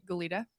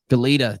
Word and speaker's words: Goleta: Goleta. Goleta.